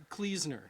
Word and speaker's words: Kluesner: It's Kluesner. Kluesner. All right. All right. I tell people like Kleenex.